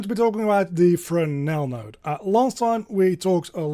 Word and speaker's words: Fresnel: You spell it as a Fresnel, but it's a French word, so you pronounce it as Fresnel.